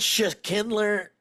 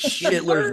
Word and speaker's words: Schindler's: It's called Sha Kindler. Is that how you say it? It's Schindler's List.